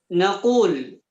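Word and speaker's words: نقول: Naqulu. Ya, bacanya naqulu, maka kami katakan itu domir nahnu. Naqulu dari qala yaqulu.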